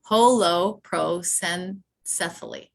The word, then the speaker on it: holoprosencephaly: Holoprosencephaly.